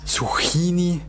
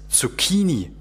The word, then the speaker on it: Zucchini: Zucchini? Zucchini? Wer dem Italienischen nicht mächtig ist, dem passieren solche Fehler. Das H macht das C zu einem K, wodurch es Zucchini ausgesprochen wird.